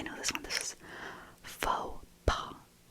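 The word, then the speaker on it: faux pas: Pronounced that one wrong. Next. I know this one. This is fauxpaw.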